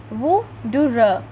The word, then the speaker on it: wuther: Here in yellow box its pronunciation is written Wuther. Wuther.